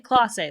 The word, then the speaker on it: Clase: Yeah, Volpe came out in the 9th, got a double, RBI double against one of the best closers in Clase.